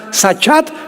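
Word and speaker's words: שחת: La palabra corromper también es importante porque la palabra hebrea sachat se escribe con s como suena sachat con t de tío al final.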